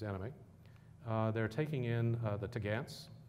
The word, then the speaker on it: topgallant: They're taking in the Tagants. That's how you pronounce topgallant, Tagants.